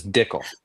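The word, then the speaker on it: Dickel: It's Dickle. It sounds like tickle, but it's different.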